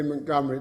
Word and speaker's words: Montgomery: in its proper context I pronounce it by the way Montgomery because that's how the family pronounce it it's a Scottish family and I believe also the great field Marshall pronounced it that way so forgive me if you don't like it but that's how Mrs Montgomery pronounced her name the decision in that